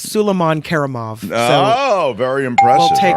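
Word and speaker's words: Suleiman Kerimov: It's Suleiman Karimov.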